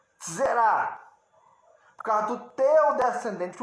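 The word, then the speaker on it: זרע: O Messias, por meio do teu descendente, um descendente, o teu descendente te zerá, alguns pronunciam assim, zerá só, mas é um tissade ali, zerá, por causa do teu descendente, o único, serão benditas todas as famílias da terra.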